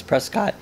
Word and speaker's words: Prescott: But yeah, it was Prescott. Is that how you said it? Prescott, like biscuit.